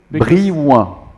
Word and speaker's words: Brillant: So we say Brillant, Brillant, Brillant, Brillant, No, but you